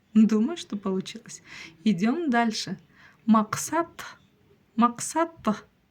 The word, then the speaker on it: Мақсат: вас всё получится ма Максат Максат Максат в конце у нас буква которая практически не читается Итак читаем всё вместе